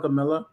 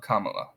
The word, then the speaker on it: Kamala: ways I call it Camila I know that's song it's Kam M just just just rhyme it with Mom mamala Kamala then then you got it down maybe you're right I